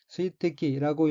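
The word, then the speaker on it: 水滴: 둘째칠 오른쪽 첫 번째 어인 한자가 한국어로 수적이고 각기 물수 물방울 적자이고 일본어는 일본어로는 스위태키라고 읽으며 스위태키는 물방울이란 뜻입니다.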